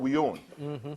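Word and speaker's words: We Yone: And it's spelled W-E as one word, and then Y-O-N-E as the other.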